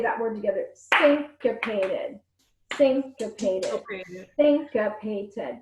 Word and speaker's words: syncopated: say that word together syncopated syncopate oh thanks got painted that's a four syllable word that's a big word syncopated think of a sink like um you know where you wash your hands syncopated alright so guys